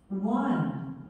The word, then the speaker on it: one: One. One. Couple. Couple. Young. Young. Mother. Mother. 다, 네, one도 마치 어 발음 아닌 것 같지만 어 발음이에요.